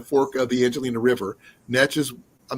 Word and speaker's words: Neches: Netches, I'm not sure. Please correct me if I'm on the pronunciation of the river. Netches or Neches? Anxious. Neches. Okay. Yes.